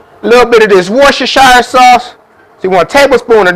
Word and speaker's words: Worcestershire: i'm using lee pyrene this is how you pronounce it worcestershire sauce now let's go ahead and start mixing